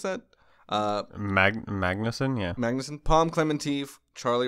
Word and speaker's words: Magnussen: billy main magnussen i think is how you pronounce that uh magnuson yeah magnuson palm clementife charlie wright pearl utt